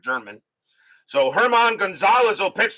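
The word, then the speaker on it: Germán: So Herman Gonzalez, I think it's Herman. I think it's pronounced that way here instead of German.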